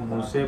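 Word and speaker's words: موسى: اظہار وغیرہ کا اختلاف۔ مثلا موسیٰ کو ایک قرات میں امالہ کے ساتھ موسے پڑھا جاتا ہے، قاضی ابو طیب کی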